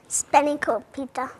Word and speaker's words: Spanakopita: And now we're making Spanakopita. I probably said it wrong again, didn't I? Spanakopita.